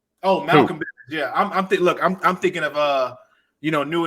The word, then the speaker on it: Malcolm Bivens: And I mean, again, I don't like Michael Bivens, but character work and I can tell you don't like it because you saying that man's name wrong. Oh, Malcolm Bivens, yeah.